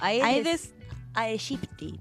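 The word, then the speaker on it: Aedes aegypti: Ay, la pronuncia muy canchera. A ver. Porque es amigo aedes aegipti.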